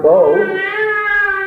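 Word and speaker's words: beau: You know the word bow. I mean, my daughter has a bow. We don't spell it B-O, although we might. It's B-E-A-U, because in French it's a French word, and E-A-U stands for O in French.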